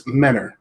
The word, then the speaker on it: Mentor: Northeast of Cleveland in a city called Mentor, but you have to say it right. It's Menor. That's how everybody up here says it. It's not Mentor if you look at it, spelled the same way.